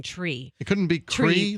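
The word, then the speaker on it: Chree: do you pronounce it Shri or or is it tree it's tree because it's CHR would be true right yes tree c h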